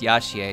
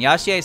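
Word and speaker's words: Yachie: about it but her her first name has c-h-i-e so it should be pronounced yashya and yashiya sounds pretty good but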